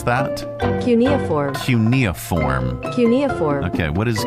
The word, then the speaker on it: cuneiform: How do you pronounce that? Cuneiform.